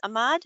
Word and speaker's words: Ahmad: live today's guest presenter is amaramad am i pronounced ahmad am i pronouncing that correct good okay of